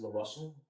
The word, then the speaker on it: LaRussell: I want to pronounce his name right. His name is LaRussell.